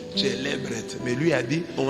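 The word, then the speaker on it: celebret: C'est comme ça qu'un prêtre prononce célébret. Mais lui a dit on a pris les célébrés.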